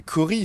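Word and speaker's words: Corey: En plus je crois que c'est Cori. Ça se prononce Cory en plus cette merde je crois. Oui c'est Cory. C'est comme le chanteur de Slip Not c'est Cory Taylor.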